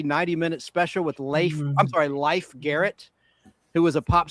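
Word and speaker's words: Leif: Yeah, people think his name was pronounced Life Garrett. It was Life Garrett, like the game of life.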